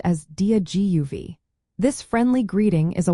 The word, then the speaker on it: Dia Daoibh: The dia part sounds like dia, similar to the beginning of the word diagonal.